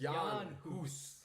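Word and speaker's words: Jan Hus: or in that area you pronounce the J as a Y so it's yon who's John who Stan huss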